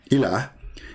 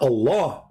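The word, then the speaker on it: إله: But al-Ilah, al-Ilah, Ilah, is simply E-L, and there is little H at the end, like a sound of a music. Ilah. Still, it's Ilah. It's not Allah.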